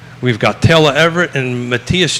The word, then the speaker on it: Matthias: We've got Taylor Everett and Matthias. Did I pronounce that correctly, or did I misconnect?